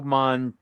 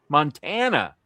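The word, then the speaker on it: Mantegna: I feel like I remember his name pronounced Joe Montagna, like lasagna. Okay, Joe Montagna. Oh, that's why they thought it was Montana.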